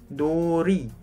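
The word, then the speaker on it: 누리: r teman-teman contoh misalnya Nuri Nori norri Nuri Nuri bukannya noli teman-teman tapi Nuri karena vokal belakangnya ya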